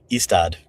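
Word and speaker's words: Ystad: My favorite story was the what the how do we pronounce that?" istad. Eastad.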